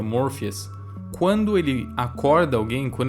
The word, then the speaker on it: Morpheus: No Brasil é conhecido como Morfeus. Em inglês se pronuncia Morphias.